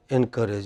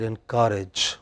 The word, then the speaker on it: encourage: two words in pronunciation you said encourage you should have said in courage what is the word whenever you attach e n then it is the next word you know endanger okay encourage engineer you know yeah